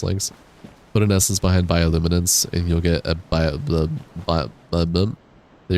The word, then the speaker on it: bioluminescence: Bioluminescence, 6 syllables, not 5.